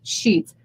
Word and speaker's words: Scheuths: Sheets. Sheets. Actually, I think I spelled it wrong on here. It's SCHEUTHS, I believe. Boo Shoots. But it's pronounced Sheets.